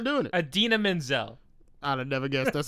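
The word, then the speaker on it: Idina Menzel: Adina Menzel. I'd have never guessed that's how you pronounce that.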